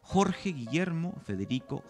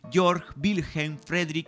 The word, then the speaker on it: Georg Wilhelm Friedrich: castellanizar todo por ejemplo jorge guillermo federico hegel que según las preferencias actuales deberíamos pronunciar en buen alemán georg wilhelm friedrich sigue esto mismo lo